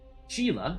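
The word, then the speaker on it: Sheala: that they have stones instead of hearts Oh Sheila apparently that's how you pronounce it based on I think what Amanda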